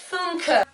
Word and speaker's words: Funke: Apparently it's Funke.